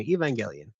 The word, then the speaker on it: Evangelion: People pronounce it different, there, and we okay. all judge each other. But it is Who's what the it is. OGs? When they say the name, you can pick them out.